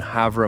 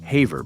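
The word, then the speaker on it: Havre: The story begins in Havra, Montana, pronounced Haver by locals.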